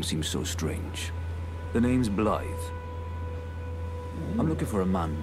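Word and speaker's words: Blaidd: name instantly forget it blyth like it's it's okay so it's it's it's pronounced so much differently than it's spelled and he's looking for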